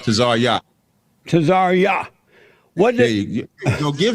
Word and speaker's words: Tazaryach: Tazaryach.